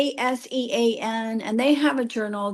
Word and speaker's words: ACEN: At the conference that I was recently at, there was a woman from I think it's pronounced ACEN. It's as sen and they have a journal, the ACN ELT journal, Scopus Index and everything.